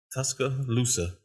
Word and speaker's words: Tuscaloosa: Tuscaloosa. Tuscaloosa. There you go. I don't know why I want to put another C on the end of that.